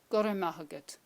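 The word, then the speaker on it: Go raibh maith agat: Now, that's obviously you will never say it like that. You will be saying it like this. Now, close your eyes again. Just listen to what I'm saying and then repeat. Gorra maith agat.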